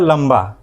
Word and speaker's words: लंबा: पा पंपा उसी प्रकार लंबा लंबा में एल ए से होगा ल और अनुसर की मात्रा है और जब हम लंबा बोलते हैं तो लंबा बोलने के दौरान अनुसर की जो उच्चारण है वह म जैसा लगता है।